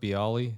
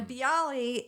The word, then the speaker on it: Bialy: And you also have is it pronounced Bialy? Bialy, yeah.